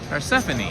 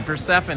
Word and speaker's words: Persephone: A funny name, pronounced, but Anglo phonetically is Persephone. Oh, okay, Persephone.